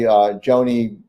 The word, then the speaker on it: Joni: His partner, really, Joni, or Johnny, as she pronounced it, I guess some people say.